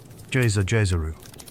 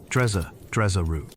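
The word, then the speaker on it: Djeseru: Jezeru. Say it slowly if you like. The syllables are round and soft. Drezeru.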